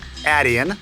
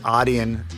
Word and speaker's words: Adyen: it in the Netherlands it's Adan here in the statesan you can say it aian overseas or Aiden what's